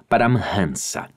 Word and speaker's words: Paramhansa: pronunciar essa difícil palavra, convém dizer que os eruditos em sânscrito aceitam a pronúncia Paramhansa.